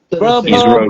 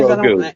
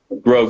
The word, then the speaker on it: Grogu: The little green, whatever they call him, Grubhub, Guru, whatever his name is. Grogu. I ain't trying to butcher the man's name. Grogu. Sorry. They're the same. Grogu, that's it.